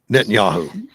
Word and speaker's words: Netanyahu: The other day, he said to the the community to hassle uh Netan- Netanyahu I can't pronounce his name this morning. Uh-huh. Uh uh Israel's Oh, Netanyahu.